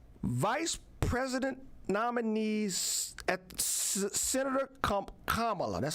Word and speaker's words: Kamala: As late as August 13th, 2019, Vice President nominees at Senator Kamala, that's how I say her name, Kamala Harris, in a tweet said this: Michael Brown's murder forever changed Ferguson and America.